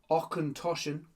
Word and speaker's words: Auchentoshan: tells you how to pronounce it. Okenoshen.